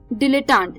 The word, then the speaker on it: dilettante: डिलेटांट या दोस्तों थोड़ा सा अटपटा वर्ड है ये, डिलेटांट। डिलेटांट, DILETTANTE, डिलेटांट। I repeat, DILETTANTE, डिलेटांट।